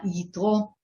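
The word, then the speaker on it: Yitro: hebrew uh way to say his name uh ito is uh the father of uh the wife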